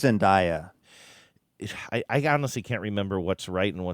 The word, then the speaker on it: Zendaya: It's Zendaya. I honestly can't remember what's right and what's wrong anymore. You said it right. Okay, Zendaya.